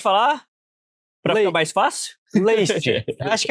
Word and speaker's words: Leist: Less. Na verdade, essa pronúncia do seu sobrenome, a gente ficou sabendo que tem umas 3 diferentes aí, porque tem uma origem alemã.